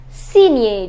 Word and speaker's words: signer: Baigner, ignorer, soigner, mignon, champignon, champagne et finalement signer. Just remember the pronunciation of GN is near en français.